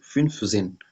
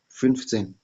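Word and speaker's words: fünfzehn: और 15 का भी फिन्फ जेन, फिन्फ जेन 15 होगा, ठीक है।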